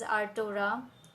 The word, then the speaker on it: Arttora: go check it out on Play Store it is spelled as our torah AR TT o ra and be the most